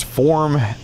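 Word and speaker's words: Forme: Surprise, Form launched an IPO and nobody knew. Yeah, well, not a lot of people know about Form. Yeah. That's spelled F-O-R-M-E.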